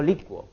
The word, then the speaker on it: licuo: licua adecua por ejemplo se pronuncian con diptongo Yo licuo no yo liubo vos